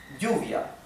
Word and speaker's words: lluvia: The word for rain, which in Spanish is lluvia, okay? Lluvia in Argentina and in Uruguay is pronounced lluvia. Lluvia.